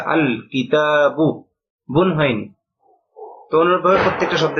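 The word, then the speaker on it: الكتابُ: গিয়েছে এক পেশ হয়েছে আল কিতাবু এখানে লক্ষণীয় বিষয় দুইটা একটা হল গ লামটা স্পষ্ট আলাদাভাবে উচ্চারিত হয়েছে আল লাম উচ্চারণ হয়েছে আল কিতাবু বন হয়নি অনুরভাবে প্রত্যেকটা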